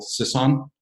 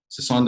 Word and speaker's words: Sisson: And I have Middlesex Community College's Provost here, Phil Sisson. Sisson, did I pronounce that correct, sir?